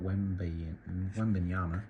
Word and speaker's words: Wembanyama: There's Wembanyama, Victor Wembanyama, that's how you say it.